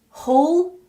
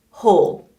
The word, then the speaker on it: whole: to hear the difference all all all whole ho hole all like ball and whole like Bowl you go bowling good nice